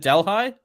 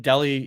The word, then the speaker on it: Delhi: Okay, is it Delhi? Is that how you say it? Not like Delhi, India. It's Delhi. Okay. Thanks for clearing that up.